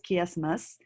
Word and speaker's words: chiasmus: so these are this is pronounced as chiasmus, and why it is called chiasmus? Why it is called chiasmus is that the chi, right? The chi, chi, chi, that the word chi is coming from the Greek language, right?